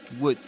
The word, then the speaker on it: would: Don't forget that in the word would the L is silent. would would.